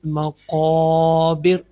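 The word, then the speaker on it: مقابر: Zurtumul maqabir. Qaf is also one of the bold letter. Make sure when you will be pronounce any bold letter, you will pronounce that letter with the heavy and strong voice.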